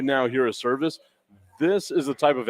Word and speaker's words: Servaes: It is Servaes. Yes. That does not sound like service to me, So- but I am with it.